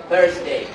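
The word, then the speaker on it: Thursday: থার্সডে, আওয়াজ নাই? থার্সডে, ওকে। এটা কিন্তু ঠা না, হ্যাঁ? থা, ঠিক আছে?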